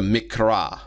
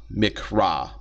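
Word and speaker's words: מקרא: describe the Hebrew Bible the mikra mikra uh m i k no sorry m i q r a mikra which is used for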